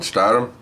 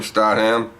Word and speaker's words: Statham: Jason Statham? Is that how you say his name? Statham?